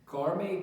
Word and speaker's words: gourmet: gourmet는 이게 발음이 MEI로 발음돼. gourmet라고 어쨌든 미식의 요리가 일어나는 그런 집의 뒤쪽으로 우리를 데려간대.